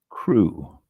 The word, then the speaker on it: cru: Let me click on the pronunciation of cru. And it is simply cru. Correct. Okay. Now the one that has French is pronounced cru, and others is pronounced cru. It's the same thing on all three of them.